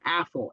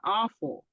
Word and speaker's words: Afful: For those who don't know me, my name is Afful, Afful. So whenever I say that, or whenever people read it, they always say, oh, Awful.